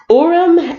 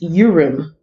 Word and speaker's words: Urim: this uh Bible dictionary Orem and sulaiman oh I'm pronouncing it wrong is your room your room and through him okay you men you